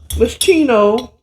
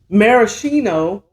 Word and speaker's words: maraschino: And I am going to garnish it with my infamous Moschino. Let me say it right. Maraschino cherries.